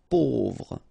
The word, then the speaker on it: Pauvre: A-U together will produce this O sound. Pauvre.